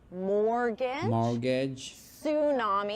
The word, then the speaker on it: mortgage: Don't pronounce the T in these words.